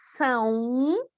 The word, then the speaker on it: são: Como pronúncia, parece que tem aí uma letra U, né? São, ok? Então, a nasalização leva um pouco para a letra U em todos esses casos.